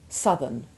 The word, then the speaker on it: southern: And there's a similar hardening of the sound in northern, northerly, southern and southerly.